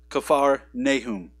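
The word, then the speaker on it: כפר נחום: we say in English is actually uh not pronounced Capernaum in the Hebrew it's kaffar Nahum which means nahum's Village and uh and so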